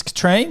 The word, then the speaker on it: Katrine: So it started with Katrine Hildyard, if I pronounce that right, Diz. Yeah, that sounds right. It is Katrine.